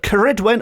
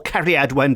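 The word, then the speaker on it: Ceridwen: witchy connections nowadays but kedwin or kadn depending on how you want to spell and pronounce it is a very prominent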